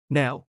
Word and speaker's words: แนว: วัดนี้มีทรงแบบโบราณ วัดนี้มีทรงแบบโบราณ วัดนี้มีทรงแบบโบราณ แนว 창작 예술 디렉터. 발음. 네 플러스 오. 네오.